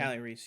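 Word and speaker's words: Kali Reis: Callie Reese, is that how you pronounce her name? Callie Reese, yep.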